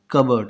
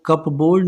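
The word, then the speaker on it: cupboard: कबर्ड। ये पी जो है ना ये साइलेंट होता है इसमें। सो कप बोर्ड नहीं पढ़ते इसे, इसे क्या पढ़ेंगे? कबर्ड। CUBUARD के जैसा इसका साउंड आएगा।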